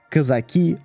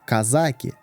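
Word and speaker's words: казаки: Never mind the historians, even in Russian linguistics there is no consensus on the correct pronunciation – Kazaki or Kazaki.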